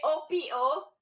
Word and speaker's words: opo: Because if you say O-P-O, that is a respect. Opo. Okay. So it's upo. Okay. Opo. Thank you, Paul. But if it's a vegetable, it's upo. That's how you pronounce it. Upo. But the respect is opo. It's the accent, po.